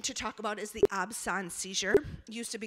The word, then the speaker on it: absence: looks like absence but it is pronounced absence which is the French word for absence so this one is